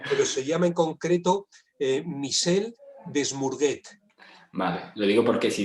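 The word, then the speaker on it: Michel Desmurget: Es que la pronunciación en francés es un poco complicada, pero se llama en concreto Michel Desmourguet.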